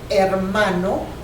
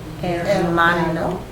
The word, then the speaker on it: hermano: Let's pronounce it. Mama. Mama. And father will be papa. Papa. Papa. Your brother will be hermano. Hermano.